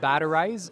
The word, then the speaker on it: Batterize: Yeah, so I'm the CEO of Batterize, and that's spelled like battery, Z-E at the end.